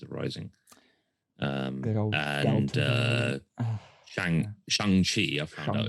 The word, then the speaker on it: Shang-Chi: Good old and Shang-Chi, I found out it's pronounced, is also only going to have a